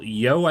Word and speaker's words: Yeoh: And then there's a female uh, Chinese actress, Michelle Yeoh, I think is how you say her name.